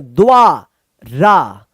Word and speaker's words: द्वारा: द्वारा, द्वारा।